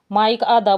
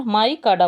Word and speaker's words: MICADA: Next है, जैसे spelling तो है MICADA, क्या बोल सकते हैं आप? माइक आधा बोल सकते हो या फिर माइक काडा बोल सकते हो, ठीक है।